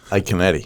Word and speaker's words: Iaconetti: Iaconetti. That's how he... I would have butchered that pronunciation.